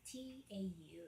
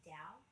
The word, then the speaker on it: Tao: It's called it's Tau, and I think it's pronounced Tao, but it's like Chinese or something.